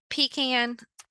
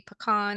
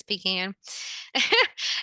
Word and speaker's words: pecan: Cherry one might be pecan and that is the proper way to say that if anybody else just spoke up and said that it should be pean it's pecan and you can create